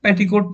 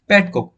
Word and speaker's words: petcoke: ये पैटकॉक मतलब पेटीकोट नहीं, कभी कोई आप मजाक में ऐसी पेटीकोट इसको प्रोनाउंस कर, पेटीकोट नहीं, पैटकॉक। पैटकॉक यहाँ पैट और कोक, ठीक है।